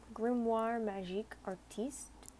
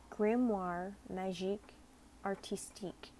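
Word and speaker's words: grimoire magique artistique: that's this is my grimoire magic artiste the oops I already screwed that up where grimoire najik artistique there we go goodness sorry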